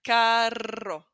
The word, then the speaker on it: carro: We have caro and carro. Can you hear the difference?